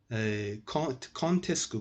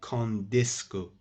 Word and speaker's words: quand est-ce que: Contesco, guys, pronounce this like that. Don't say condesco. It's an exception. Contesco, pronounced like that.